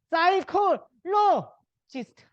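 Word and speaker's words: psychologist: 사이콜로지스트. 그러니까 심리학자입니다. 아시죠? 그치? 이 P는 요거죠. 이제 이건 P가 이겁니다. 그치?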